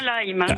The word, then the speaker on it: Lyme: Oui, c'est bien Lyme. C'est Lyme, c'est ce que je disais, parce que ça s'écrit évidemment L-Y-M-E, et oui.